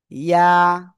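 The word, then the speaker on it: ياء: ইয়া। কোন জায়গা থেকে উচ্চারণ হবে? একেবার জিহ্বার মধ্যখান উপরে তালুর সাথে লাগাবেন, লাগিয়ে সিম্পল এক আলিফ টানিয়ে উচ্চারণ করবেন।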